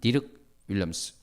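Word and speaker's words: Dirk Willems: 덜크 윌스라고도 하는데 저는 디륵 윌엄스 그 네덜란드 사람들이 발음하는 대로 해 보겠습니다.이 디르 윌엄스는 종교 개혁자라는 이유로 로마 가톨릭에 의해 감옥에 갇치게 되었습니다.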